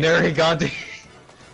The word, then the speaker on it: Nergigante: Actually, I said it wrong both times. Nergigante is a boy. Nergigante.